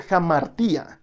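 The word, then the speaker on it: ἁμαρτία: Mira, una palabra griega que aparece mucho en la Biblia es la palabra pecado, que en griego se pronuncia jamartía.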